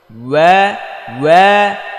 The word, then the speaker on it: واو: হ্যাঁ, ওয়া ওয়া ওয়া ওয়া ওয়াও। واو প্রথম ঠোঁটটা গোল করতে হবে, তারপর আবার চ্যাপ্টা, তারপর গোল। হ্যাঁ, প্রথম গোল, পরে চ্যাপ্টা স্বাভাবিক, তারপর আবার গোল।